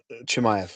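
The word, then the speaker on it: Chimaev: Chimev. Chimev. Chim. Chimayv.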